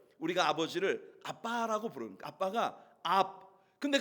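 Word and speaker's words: אב: AB, 영어 스펠링으로 말을 하면 AB, 압이에요. 압.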